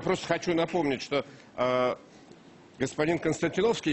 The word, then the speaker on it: Константиновский: Алексей, одну секундочку, я просто хочу напомнить, что господин Константиновский, я правильно говорю, или Константиновский, как правильно ударение? Константиновский.